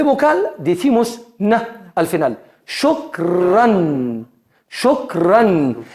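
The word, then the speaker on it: شكراً: Siempre nos obliga a pronunciar una nun.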